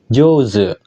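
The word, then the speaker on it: 上手: dengan kanji atas u dia cara bacanya spesial enggak makai ongyomi enggak makakai kunyomi juga spesial Dia dibaca jz oke joze yang artinya pandai kalau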